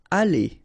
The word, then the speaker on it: aller: Aller, okay, R at the end, when you combine then you pronounce it E, aller.